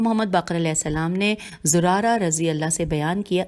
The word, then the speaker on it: زرارہ: باقر علیہ السلام نے زرارہ رضی اللہ سے بیان کیا، زرارہ کی ہجے ہے زے پہ پیش ہے پھر رے زے رے الف رے ہے۔ زرارہ رضی اللہ سے